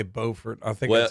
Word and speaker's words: Beaufort: So that's Beaufort, North Carolina, and it's spelled Beaufort, and then there's Beaufort, South Carolina, that's spelled the exact same, but it's pronounced differently.